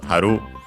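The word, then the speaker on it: 張る: And then we have haru, actually an accented, so haru.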